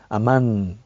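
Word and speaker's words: אָמֵן: dice es el amen esta palabra amén es de origen hebreo en hebreo exactamente la pronunciación varía un poquito de como nosotros lo decimos sería ammán escrito con el lugar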